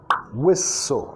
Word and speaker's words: whistle: Starts to whistle, whistle, acentuando la primera sílaba, whistle, azzy, azzy, sonido